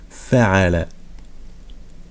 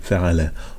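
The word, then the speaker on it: فعل: Fa'ala. Donc on entend le Fa, le Ain et le Lam.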